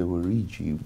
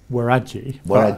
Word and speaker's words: Waragi: Yeah, so I think the pronunciation is Waragi, but I might be wrong.